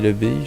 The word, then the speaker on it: abbaye: Ouais, non, on dit pas l'abbé, on dit l'abbaye je crois.